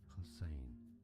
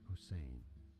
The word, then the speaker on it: Hussein: learn here for reference in Arabic it is said as husin husin hin okay generally accepted to be pronounced it as Hussein husin okay that guy had